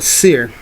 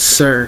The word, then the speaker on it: Cir: c yr uh sir c i R is pronounced with sir as in circle circumference or also um the